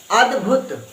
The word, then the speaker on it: अद्भुत: हल हल चिन्ह लगा हुआ है तो क्या बना अदभुत और भ में छोटे ऊ की मात्रा लगी है तो इसको जल्दी बोल देना है अदभुत अद्भुत अद्भुत फिर से बोलकर देखो अद्भुत ठीक है जी आगे